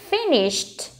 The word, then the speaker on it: finished: Finished. Trọng âm rơi vào âm đầu tiên nhá.